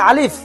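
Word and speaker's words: ألف: এই অক্ষরটি আছে এটা হচ্ছে আলিফ। শুদ্ধভাবে উচ্চারণ করতে গেলে হাওয়াটা বের হবে।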